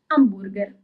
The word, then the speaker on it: hamburger: we do keep them, but the pronunciation is different as we don't read the H. For example, hamburger in Italian is hamburger. So you actually write it in the very same way, but you pronounce it differently because we don't read the letter H.